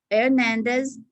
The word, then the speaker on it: Hernandez: Very important when you're pronouncing names for the H, the silent H. Hernandez, Herrera, Hector, not H.